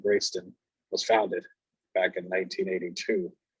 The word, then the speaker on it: Greyston: grayston and i just want to correct the pronunciation grayston was founded back in 1982 to address some